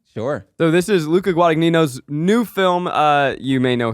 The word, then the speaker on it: Guadagnino: Guadagnino. Yes. Guadagnino. I think it's the same way you say like the guy from Jersey Shore, Vinny Guadagnino.